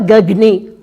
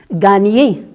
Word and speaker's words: gagner: On ne dit pas gagner. Non. Gagner.